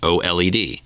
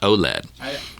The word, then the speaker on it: OLED: He agrees with me on the OLED, that OLED is pronounced OLED and not OLED.